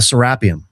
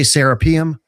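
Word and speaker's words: Serapeum: So, let's talk about the sarapium. Okay. People say serapium. You you corrected me.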